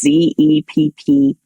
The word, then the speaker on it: Zepparella: So, and Zepparella is spelled like Barbarella, not like Cinderella. So it's Zepparella.